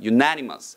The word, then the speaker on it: unanimous: 발음 따라합니다. Unanimous.